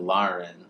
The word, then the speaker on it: Lahren: the boy's name and Lauren like laryngitis she said that not